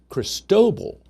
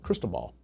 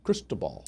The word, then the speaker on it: Cristobal: So crystal ball, I don't know. I saw a post. It's French, and so for the French pronunciation, apparently, is Cristobal.